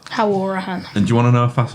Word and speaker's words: Hourihan: We always have this debate on the podcast how you pronounce it. Apparently it's Hourihan. Anyway. Hourihan.